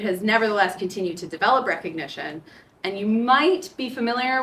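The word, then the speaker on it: Rekognition: it's it's facial recognition systems called recognition but spelled with a k um after um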